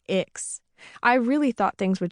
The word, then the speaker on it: ICCS: When I left my big public school and transferred to ICCS, short for Intertribal Community Charter School, and pronounced Ix, I really thought things would change for me.